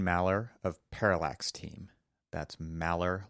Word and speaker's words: Maller: That's Malor, like Malard the duck, as Aaron says it without the D.